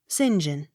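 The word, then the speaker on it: St John: r seymour or synthmore s t period space j o h n sinjin as regards christian and surname but as saint john when applied to church or locality s e y m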